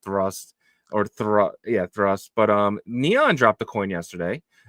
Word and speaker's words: Thrust: People were calling it Thirst, but it's spelled Thrust.